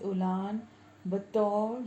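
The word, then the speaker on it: Ulaanbaatar: Next is Mongolia and the capital is उलान बतौर या फिर उलान बातर, दोनों प्रोनाउंसिएशन ठीक है इसके।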